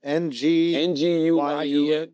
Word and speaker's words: Nguyen: McCoy, another guy named Alex Ocha, and George Nguyen. How you pronounce it, Chris? It's a Vietnamese name. Nguyen.